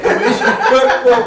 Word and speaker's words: Kamisha: Let's see what's wrong when I say It's not spelled right, but you're saying it right. Okay, Kamisha, we're audio, so we're good.